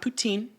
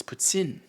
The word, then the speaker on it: poutine: It's not poutine. It's poutine. Okay, it's Canadian culture. It's poutine. You say it like a Frenchman.